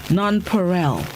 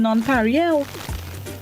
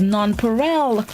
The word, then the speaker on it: Nonpareil: been pronouncing it improperly some of us have been saying non-parallel but it's non-perel all right good morning